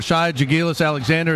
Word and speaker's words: Shai Gilgeous-Alexander: Jaren Jackson of Michigan State, Trae Young from Oklahoma, Colin Sexton, Alabama, Mohamed Bamba, we talked about him, or Shai Gilgeous-Alexander, is that how you say his name, JT?